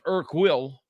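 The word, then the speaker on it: Urquell: And u um it's pronounced Irk will I think I I live in a community that has a lot of checks.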